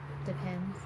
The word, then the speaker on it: Depend: diaper itself doesn't have I've always referred to it as depends also but it is actually depend if you they pulled up the the commercial on it and it and she said it has depend interesting yeah nobody nobody